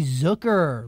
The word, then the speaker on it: Zucker: on our interview with Jeremy Zucker like Booker I said his name